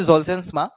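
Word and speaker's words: Zolgensma: তো এটা হচ্ছে জলজেন্সমা মানে এটার উচ্চারণ যেটা জলজন্সমা এই জলজেন্সমা ইনজেকশনটার মধ্যে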